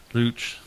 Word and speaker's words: Leucht: So is it like Gooch, but with an L?